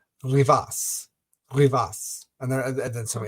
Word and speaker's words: Rivas: It's like a Anglo thing to say Rivas, like re e v i s, right?